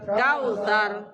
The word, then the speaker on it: الكوثر: الكوثر كالكوثر الكوثر كالكوثر কাউসার এভাবে শব্দ না করি কাউসার কাউসার হবে সাজিবের আগে চেষ্টা করব